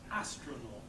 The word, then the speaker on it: astronaut: 3 syllables. Where's the stress? No. The beginning, yes. Astronaut.